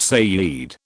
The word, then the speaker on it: Said: a Muslim man from Jerusalem named said pronounced Sayed said threatens my cousin's